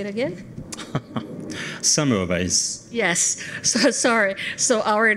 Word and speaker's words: Semmelweis: Semmelweis.